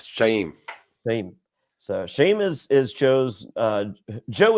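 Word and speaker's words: Shauhin: The H is kind of silent. So yeah, it's like a breath. Shame.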